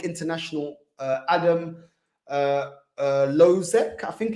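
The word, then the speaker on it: Hložek: uh adam uh uh lozek i think it's called i think the h is silent lozek adam lozeck um also a bit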